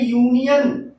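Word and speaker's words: union: जैसे हम कहें यूनियन, देखिए यह भले ही यू से प्रारंभ है, यूनियन है, ये यू से प्रारंभ है, वावेल है, लेकिन इसका हिंदी उच्चारण जो है वह वावेल नहीं है बल्कि क्या है, कॉन्सोनेंट है।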